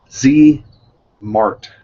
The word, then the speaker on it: ZMart: ZMart, as in kind of like smart, ZMart Frame Max.